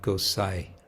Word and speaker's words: Gosai: it's hardly even pronounced it's more like you could drop the n and you just have Gosai so it's a very